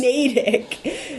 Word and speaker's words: Natick: Jay will say things like Natick. Natick? Yeah. It's Natick. That's how it says. Natick.